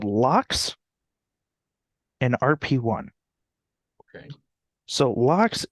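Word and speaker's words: LOX: make the combustion okay it's a thing called locks and rp1 okay so locks is spelled l-o-x so it's liquid oxygen and rp1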